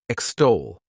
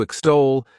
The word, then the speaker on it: extol: The next verb is extol. To extol, this word has 2 syllables, and the stress is on that second syllable. Extol.